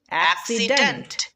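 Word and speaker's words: accident: এক্সিডেন্ট এক্সিডেন্ট মানে দুর্ঘটনা।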